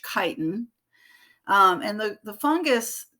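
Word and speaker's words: chitin: made of a carbohydrate called kiten and you do pronounce the CH as a hard ch kiten um and the the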